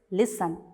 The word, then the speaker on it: listen: you pronounce it it's listen next you can see it's often so you have to say it as often read these words aloud they all have a silent t so in your text